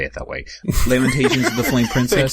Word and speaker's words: Lamentations: looked it up and the first syllable according to the dictionary rhymes with the word lamb all right all right all right it has the exact same vowel indication I stand corrected Lamentations there you go Lamentations